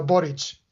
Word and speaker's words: Boric: kind of like um it's kind of like Maury Povich it's uh borage okay so so president